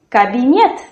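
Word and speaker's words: кабинет: So in Russian the stress falls on the last syllable. So repeat after me. College opera pre internet expert cabinet.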